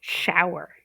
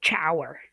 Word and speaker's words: shower: Shower. Okay? As opposed to check. Okay? So, some people you might hear your students say, "I need to take a chower."